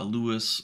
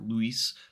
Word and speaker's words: LUIS: with conversational language understanding or the older uh Lewis uh or Luis depending on your pronunciation language understanding uh those things will like